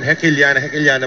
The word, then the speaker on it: Hekiliana: Kim Hekiliana pala pronunciation ng last name niya.